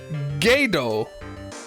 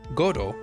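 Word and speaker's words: Godot: In Japanese, the name is pronounced Godo, which is the case for the Ace Attorney character.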